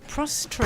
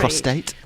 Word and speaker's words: prostate: remember another one actually another clang is PR prostrate prostate prostate prostate and prostrate as well exactly don't you don't want to mix those up yeah you got a